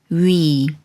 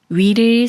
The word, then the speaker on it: 위: 위를 소리내려면 자음 이응이 소리가 없으므로 문의 우와 비슷한 우를 먼저 발음하고 키위의 이와 비슷한 이를 빠르게 붙여서 위라고 소리냅니다.